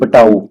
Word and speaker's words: Patau: फिर आपके पास PATAU, पटाऊ।